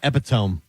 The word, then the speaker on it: epitome: What about epitome instead of epitome?